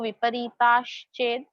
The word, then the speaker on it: विपरीताश्चेद: Here श एंड च का मिक्सचर है, सो विपरीताश्चेद, विपरीताश्चेद एंड विपरीतोपि।